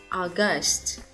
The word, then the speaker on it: August: Tháng 8, trọng âm cũng nhấn vào vị trí số 2 nhé. August.